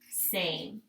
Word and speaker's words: same: That word is same. So S, long A, says its own name, which means if we were coding in Saxon, we would put a macron over it. Same, silent E at the end. Again, if we were coding in Saxon, we would cross out the E because we do not hear it, okay?